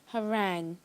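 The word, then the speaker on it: harangue: that's correct and Jamal your word is Harang Harang am I pronounced right correct correctly mhm Harang may use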